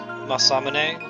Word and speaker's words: Masamune: know that it's pronounced Masamune like that's the Japanese you pronounce every syllable lost aw dang but as a kid I always pronounce it Masamune so I'll probably just